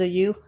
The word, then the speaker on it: ewe: Female sheep is a you. Is it? What is the you? EWE, right? What's that? I have to look that one up. EWE, isn't that a female sheep?